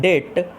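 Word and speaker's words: debt: क्योंकि इसमें B silent रहता है। क्या रहता है? बी साइलेंट रहता है, इसलिए मैं आपको, इसलिए इस चीज़ को मैं, जिसे आप डेब्ट पढ़ते हैं, वो डेब्ट नहीं होता है, डेट होता है, इसलिए मैंने पढ़ा।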